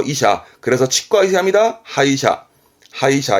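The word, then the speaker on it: 歯医者: 자란 뜻이죠 그렇죠 이샤 그래 그래서 치과 이사합니다 하이샤 하이샤 해 치과의사 내지는 치과를 말하기도 하지요 하이샤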